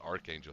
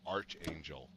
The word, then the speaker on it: Archangel: used to uh mispronounce Archangel he used to call it Arch Angel Arch Angel yeah remember that yeah somebody corrected it yeah but somebody corrected him though yeah it was Archangel yeah exactly all right